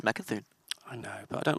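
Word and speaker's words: Mecha'thun: right the first time it's Mecca through priests as well there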